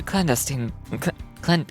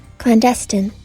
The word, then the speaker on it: clandestine: yourselves any further we will take a more cestine cestine I forgot what that word means it means call right calm Serene peaceful Divine cestin and also pronounce it clandestine clandestine kept secret or un secretively especially oh